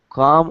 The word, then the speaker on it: calm: Now, careful of the pronunciation of the word calm. Calm or calm? Calm. Not calm, but calm. Calm. Calm. Imagine it's spelled C-A-U, like Uganda, and calm.